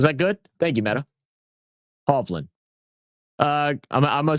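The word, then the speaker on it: Hovland: Um, so I say the pronunciation is more like that where the A is a double, a double A is pronounced like a havland. Like havlin.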